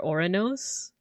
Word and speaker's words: Uranus: It's not Uranus. It's Uranus. Even though I think Uranus is closer to the actual pronunciation, right? Or Oranos.